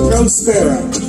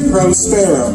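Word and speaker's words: próspero: First word, prospero. The best way to remember this and to say it right is to imagine, like, you like birds, you like sparrows. You're prospero.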